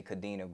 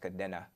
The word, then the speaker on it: Kadena: Oh air force base called Kadena or we Americans say Kadena but it's actually pronounced Kadena so was there for like about three years